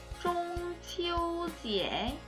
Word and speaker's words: 中秋节: 중국의 추석, 중추절을 중국어로 하면 퐁치오지에 라고 발음을 하죠.